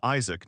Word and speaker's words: Isaac: My name is Isaac, not Isach as you keep saying.